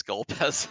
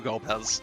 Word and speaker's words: Golbez: Like, no, no, sorry, no Golbez, nope. Forbidden. Scarmione. Do not pronounce the G.